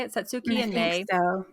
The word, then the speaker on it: Satsuki: But Satsuki, I believe is how you say it. Satsuki I and think May.